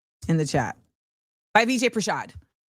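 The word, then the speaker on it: Prashad: Al Rolando put it in the um in the chat by VJ Pashad. I always want to say Pashanker and that's not what it is.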